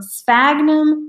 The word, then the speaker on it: sphagnum: So sphagnum moss.